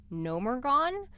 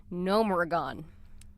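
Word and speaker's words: Gnomeregan: I always thought it was Nomergon. It's actually Nomergon. Nomergon. There's you have to pronounce that E.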